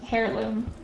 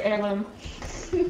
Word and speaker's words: heirloom: comb it's heirloom maybe I always want to pronounce it a hairloom instead of arloom is the way it's spell English is weird yep hello frb it's